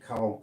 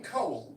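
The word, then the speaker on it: Kohl: I mean, this is spelled K O H L with an accent over the O. That's German. That's like a German name.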